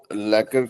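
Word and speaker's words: lacquer: क्यू यू ई आर जो क्यू यू क्वर जो नहीं वो कर है वो लैकर लैकर लैकर लैकर लैकर करोगे तो बढ़िया।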